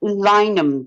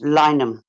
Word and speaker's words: Lineham: Looks like line hand, but how do you pronounce that? It's Lineham. The English is soft. Lineham.